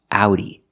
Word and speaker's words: Audi: the sound is ow so this word is pronounced Audi it's the name of a car this is